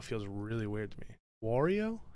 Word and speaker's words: Wario: weird to me wario how do you say it wario like mario that feels like work because i have to actually work my mouth that's how i naturally do mario wario you know mario wario luigi see this